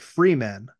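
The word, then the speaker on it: Fremen: I'm pretty sure that Frank Herbert pronounced like the freman I'm pretty sure he pronounced it Freeman you know but we all call it we all call it fman we all agree that's correct but that's not what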